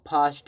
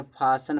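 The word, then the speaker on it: fasten: इसको देखो फास्ट नहीं पढ़ते। फासन पढ़ते हैं। तो फासन में टी साइलेंट होता है।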